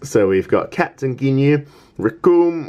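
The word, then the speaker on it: Recoome: So we've got Captain Ginyu, Rikum, whose name rhymes with Doom, Guldo, who we can ignore because Guldo is a blank page on Dante's domain, Jace and Bertha.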